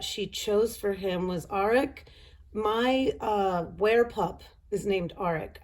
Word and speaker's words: Arik: It could be Eric, but that's my ex-husband's name, so that's even weird. So he is not Arik or Eric.